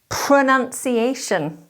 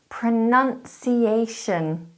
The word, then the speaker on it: pronunciation: is telling me not to the thirteenth word is pronunciation pronunciation pronunciation is spelt p r o n u n